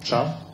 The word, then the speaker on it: chav: parallel in the UK sphere with the so-called chav, you know, subculture. Did I pronounce this right? Chav?